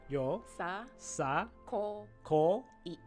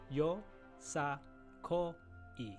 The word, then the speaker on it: yosakoi: you say how do you say it yo yo sa Co e yes yo sa Co e you got it got it next question would